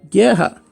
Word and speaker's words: guerra: Agora, se eu for falar guerra, olha o que aconteceu. No exemplo de cima aqui, ó, eu pronunciei o G e pronunciei o U. Agora, nesse exemplo de baixo aqui, ó, para eu falar guerra, eu usei um único fonema, eu falei o G.